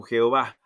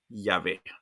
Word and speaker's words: Yahvé: crucecita abajo de aquí, para poder justificar, pronunciarlo como Jehová, pero no ese es su verdadero significado. Realmente la pronunciación es Yahvé.